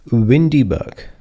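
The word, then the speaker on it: WinDbg: So I pronounce this as windy bug which is common pronunciation for this particular word but it is written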